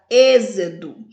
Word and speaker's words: êxodo: aulas anteriores vejamos que na palavra êxodo nós temos o e a sílaba mais forte lâmpada lan a sílaba